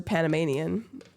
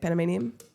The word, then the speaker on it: Panamanian: What's your thoughts on that since you're Panameanian? Is that how you say it? Panamanian. It sounds like Panda Mania, which I don't know if that's a real thing, but I feel like it is.